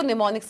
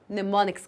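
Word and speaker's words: mnemonics: होता है इसमें जो एम होता है वो साइलेंट होता है वो साइलेंट होता है इसलिए हम इसको निमोनिक्स कहते हैं इसका स्पेलिंग ये है लेकिन एम इसमें साइलेंट होता है इसलिए हम इसको प्रोनाउंस निमोनिक्स कहते हैं तो भाई हमने असेंबली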